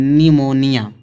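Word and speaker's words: pneumonia: जब पीएन दिया तो पी का उच्चारण नहीं निकलेगा, क्या पढ़ेंगे? एन का उच्चारण, निमोनिया। यहाँ पे क्या निकला? निमोनिया।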